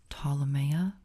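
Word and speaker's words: Ptolomea: Again, for those who don't know, it's pronounced Ptolemea, like Ptolemy, who it's named after.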